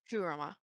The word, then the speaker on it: Kurama: Kurama. Kurama, thank you.